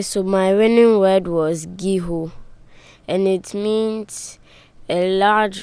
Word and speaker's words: guijo: And tell us what it means, and maybe you can spell it out for us. Okay, so my winning word was giho, and it means a large Philippine timber tree